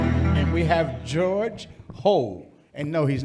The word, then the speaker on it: Hou: I said, it's a farming hoe, Santa Claus hoe, or Eddie Murphy hoe.